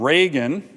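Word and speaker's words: Ragin: This was to have Brigadier General Ronald Reagan, yes, that's how you pronounce it, it's not spelled that way, to be a major general.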